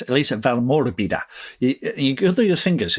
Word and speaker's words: Valmorbida: So it's Elise Val Morbida. You go through your fingers. If you're Italian, you got do the fingers. Val Morbida. It's like Frederica, right?